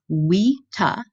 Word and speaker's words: vita: you can hear again I'm pronouncing a V like a W which is how Latin does it WETA and it means life